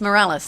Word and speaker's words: Morales: I think it's Morales or Morales. It's Morales. It's like morale, like morale, like team spirit, I guess. Not moral as in, you know, doing good.